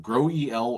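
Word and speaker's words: GroEL: It's called grow eel or grow eel.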